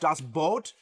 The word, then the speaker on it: Das Boot: Das Boot, which is actually pronounced Das Boot, actually means the boat, which is spelled B-O-O-T.